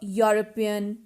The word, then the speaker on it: European: see these words a european uh university a one rupee note these all words start with a consonant sound these all words are